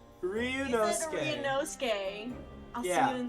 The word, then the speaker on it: Ryunosuke: Ryunosuke! Ryunosuke. Ryunosuke. I'll see you in the courtroom. Gosh, his name is so hard to remember. Think Inosuke from Demon Slayer and Ryu from Street Fighter.